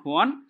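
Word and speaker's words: Juan: ছিল সে হচ্ছে ডন হুয়ান epic epic বলতে পারি ইপিক ডন হুয়ান উচ্চারণটা হোয়ান হবে এটা এবং তার বন্ধু হচ্ছে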